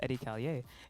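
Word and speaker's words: Edi Callier: was like oh yeah so it's pronounced eddie callier and she was like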